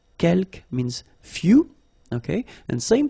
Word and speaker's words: quelques: Quelques, you don't pronounce the final S here. Quelques means few, okay?